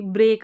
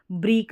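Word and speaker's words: break: यहां पर आई थी ब्रेक आई थी जैसे वहां पर भी ई ए था हम वहां पर ये को ब्रीक नहीं पढ़ रहे थे ब्रेक पढ़ रहे थे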